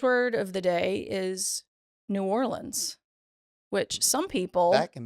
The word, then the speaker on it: New Orleans: TV and movies so people who are from here pronounce it New Orleans it's not yes New Orleans it's not for the love of God it is not Noland it's not Noland nobody says that oh